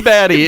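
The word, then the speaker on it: Baddy: It is baddie. It is spelled B-A-D-D-Y. baddie.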